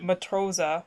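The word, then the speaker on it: Matrose: German pun because the the word Matrosa, which is spelled M A T R O S E, um means sailor.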